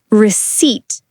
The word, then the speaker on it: receipt: Pronunciation check. Receipt.